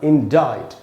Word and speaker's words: indict: जो भी कारण हो, इसमें दोस्तों सी साइलेंट है और इसका उच्चारण होगा इंडाइट। और इसकी मीनिंग होती है